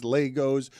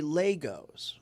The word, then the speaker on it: Lego: I've noticed that. Yeah. So Legos. Legos instead of Legos? Yeah, the right way. Okay. Lego my ego. How's it spelled? With an E, not an A.